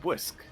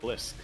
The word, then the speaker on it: Bwisk: It is pronounced Bwisk and not Blisk. True.